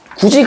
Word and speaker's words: 굳이: 디귿과 티귿이 2와 합쳐지면 지이나 치으로 발음합니다. 지이나 치으로 발음한다. 그게 아까 우리 여기 있었던 경국의 음에 들어가는 거겠지. 되시겠죠? 그래서 여기 있는 구디도 최종적으로는 뭘로 발음된다? 구지로 발음된다라는 걸 아셔야 됩니다.